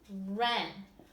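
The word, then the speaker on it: wren: we read the word Ren Ren is a type of bird we do not pronounce the silent W but if I were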